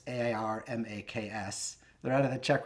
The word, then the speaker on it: AirMaks: It's AirMaks.